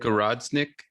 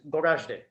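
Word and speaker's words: Goražde: Gorodnik? No, I don't know if I'm pronouncing that right. No, and I would Gorazde.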